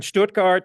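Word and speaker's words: Stuttgart: He was a guest professor at the academ I speak German that's why I can pronounce it that way um in Stoutgart the University of Pennsylvania RPI Syracuse RMIT in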